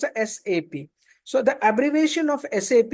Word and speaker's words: SAP: and again I'm reiterating it's not sap it's a sap so the abbreviation of